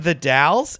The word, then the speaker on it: The Dalles: dallas oregon and i was like you mean the dalles and he was like oh thanks for correcting me on the correct pronunciation of your shitty town there is a